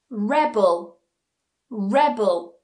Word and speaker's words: rebel: produce produce produce produce Rebel Rebel Rebel Rebel conflict conflict conflict conflict so notice how that stress changes depending on the word form if it's a noun or if it's a verb rule number four if